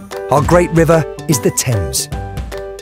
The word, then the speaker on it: Thames: Our great river is the Thames.